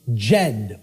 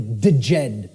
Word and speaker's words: Djed: See, this is an initiate inside what was known as the Jed or the Djed pillars, depending on how certain people pronounce it.